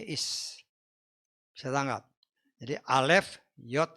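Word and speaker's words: איש: Laki-laki di dalam bahasa Ibrani itu tulisannya ada alef kayak X gitu ya. Ada yod kayak koma tapi di atas. Ada shin kayak W. Jadi bacanya is.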